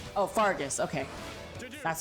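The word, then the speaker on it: Faerghus: Oh, Fargus. Okay. That's how you pronounce it.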